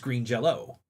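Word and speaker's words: Green Jellÿ: So, it was it says green jelly, but the Y is pronounced like an O, so it's green Jell-O.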